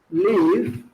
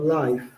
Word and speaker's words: live: Recuerden, la pronunciación de esta parte es live, no life. Eso es live.